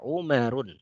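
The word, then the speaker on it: عمر: Ya, kalau Umar bagaimana menulisnya? Umar ya, Umar tanpa alif ya, Ain Mim Ra Umarun ya, tanpa alif ya.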